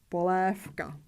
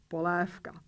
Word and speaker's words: polévka: Because the last consonant is voiceless, the consonant in front of it has to be pronounced as its voiceless pair, in this case, F. We pronounce voiceless F and voiceless K, polévka, polévka.